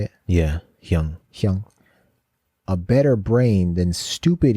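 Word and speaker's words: 형: Yeah, Hyung.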